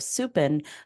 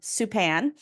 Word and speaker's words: Supan: for my other podcast, Queer Business Success, my first guest was Krista Supin, who Yeah. is, excuse me, I said the last name wrong, Supan.